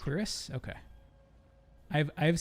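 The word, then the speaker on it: cuirass: heavy bronze curus we good is that you pronounce that curus I've never I don't think I've ever heard that word pronounced I'm sad to tell you that it is actually pronounced Cirus cerus okay I've I've said it in my head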